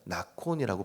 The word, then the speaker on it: 나콘: 여기서 정하였사오니라고 번역된 히브리어를 보니까 나콘이라고 발음을 합니다.